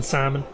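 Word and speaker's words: Scimen: thought you'd never ask it is simon simon simon greenhaven simon greenhaven and for those who care it is spelled s-c-i-m-e-n what simon why not it it's a fantasy world names are spelled weird but green haven that's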